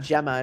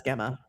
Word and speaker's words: Gemma: It's not Gemma, it's Gemma.